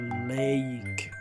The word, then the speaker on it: lake: Then we have the next one, lake, and the last sound is silent, so it's read as lake, a lake.